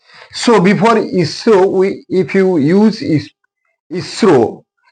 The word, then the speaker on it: ISRO: Indian space resource organization it's acronomy is IS is ISRO ISRO it produces V sound at its beginning so before I isro we if you use